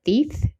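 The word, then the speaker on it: Theth: I think it's called Thief. T H E T H.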